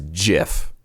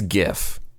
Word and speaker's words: GIF: work the other day somebody pronounced the word or acronym G as GIF and I almost quit my job because it's GIF and I don't care that the Creator says it's GIF that's just his sorry attempt at staying